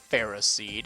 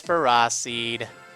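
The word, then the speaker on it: Ferroseed: know wow all right a feras seed feros seed if you'd rather its official pronunciation is feras seed for whatever reason okay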